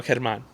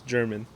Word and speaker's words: Germán: Like, I didn't have the confidence to say, me llamo Germán. My name's Germán. Like, say it right. Call me my name. Yeah. Right. And I didn't have that. For the longest time, everyone was mispronouncing it. So I'd be like, oh, it's German.